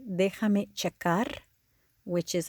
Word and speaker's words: Déjame: Déjame ver. Déjame ver. That J is pronounced like an H. Déjame ver. Déjame ver.